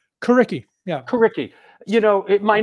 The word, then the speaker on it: Coriky: Am I pronouncing this right? Coriky? Coriky.